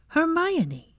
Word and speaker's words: Hermione: grip when he tried to pull away Hermione say it her my oh she grinned ninny